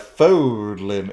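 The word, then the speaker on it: Fódlan: On the continent of Fodlan lies the holy kingdom of Fargus. Just say it like that. Fodlin. It's just Fodlin, dude.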